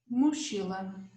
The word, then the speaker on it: mochila: So this sound, CH, we must say it like sh, always. Let's give some examples. Mochila, borracha, chave, chuva, chuveiro, chapéu.